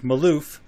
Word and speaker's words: Malouf: Today we're going to be interviewing Amy and Jake Malouf. Is that how you guys pronounce it?